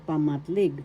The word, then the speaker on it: pamatlig: uri ng panghalip is pamatlig first syllable pa second syllable mat third syllable leg the accent is in the third syllable leg pamatlig pamatlig pamatlig